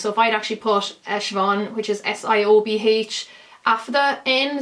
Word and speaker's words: Siobhan: Like, I wouldn't have used my name because Siobhan is something that isn't that common outside Ireland, and it's always mispronounced. So if I'd actually put Siobhan, which is S-I-O-B-H, Afda in, so Afda is